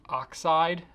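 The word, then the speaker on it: Oxyd: excellence a twos and the are called the oxide finish Oh X Y D it's pronounced oxide as opposed to the scientific spelling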